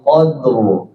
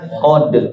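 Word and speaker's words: قدر: Contoh inna anzalnahu fi lailatil qadr. Rnya dijelasin jangan qod apa qad qod.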